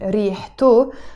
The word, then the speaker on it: ريحته: Okay, but whenever I want to attach a possessive ending to it, in this case, the O sound, which is its smell, ريحته. I have to pronounce the T مربوطة. I cannot say ريحاو. No. I have to pronounce the T مربوطة, the T sound, and say ريحته, its smell.